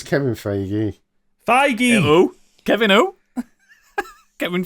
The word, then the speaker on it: Feige: I know it's Kevin Feige. Feige! Who? Kevin who? Kevin Fagan. Feige. Kevin Farage. He doesn't pronounce names what was that?